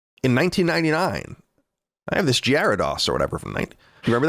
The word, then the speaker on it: Gyarados: It's Gyarados. I've never heard it said. It sounds like you spelled it right, but it's definitely Gyarados.